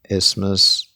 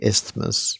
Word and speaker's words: isthmus: And then this is Peloponnese Peninsula and Corinth Isthmus, which apparently I've been saying isthmus wrong because I thought you had to pronounce the th like isthmus, but apparently not. It's just isthmus.